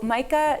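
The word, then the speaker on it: MICCA: So MICA, which is MAICCA, pronounced like Micah, the Hebrew prophet, but not spelled that way, stands for the Massachusetts Interfaith Coalition for Climate Action.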